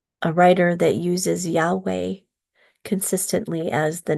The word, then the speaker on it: Yahweh: And so that initial translation of the name of God in these texts was seen as Jehovah. Um but later research caused them to change the pronunciation of that name um into Yahweh.